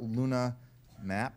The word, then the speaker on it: LunaH-Map: be take talking about Luna map H is silent lunar polar hydrogen mapper